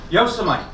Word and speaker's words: Yosemite: Yosemite. That's how it's spelled. That should be how you say it. It's not.